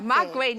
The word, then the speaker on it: Magwinya: Magwinya. Magwinya. Magwinya. You're right Magwinya.